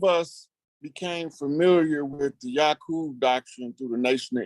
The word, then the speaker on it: Yakub: YAKUB is a Hebrew word. It's actually pronounced correctly in Hebrew as Yakub.